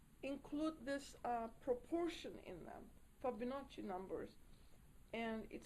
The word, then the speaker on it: Fibonacci: is a series called Fibonacci numbers, or Fibonacci numbers. I'm not sure how you pronounce it. Yeah, Fibo. It's a B. Fibonacci.